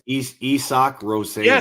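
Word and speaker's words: Isak Rosén: It's I think there's another syllable in there. No, it's Esoch. Rosan. Yes, it's Esoch. Yes. It's not Isaac Rosen.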